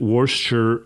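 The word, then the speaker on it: Worcester: it was in a city in Massachusetts, uh, Worchshire is how it's pronounced actually. It looks like Worchester, but everyone pronounces it. Worsture, Massachusetts.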